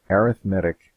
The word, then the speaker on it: arithmetic: saying it weird arithmetic is a noun but arithmetic is the adjective we use to describe a